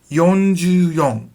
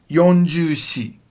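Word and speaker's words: 四十四: Yonju-yon. Now, you could say yonju-shi, but it's weird. It's really weird. For this reason, most people say yonju-yon. Because you cannot say shiju, you have to say yonju.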